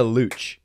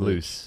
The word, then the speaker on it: Luciano: Luciano. Woo! It is a Luch. It is. Not loose. That's the like Italian pronunciation.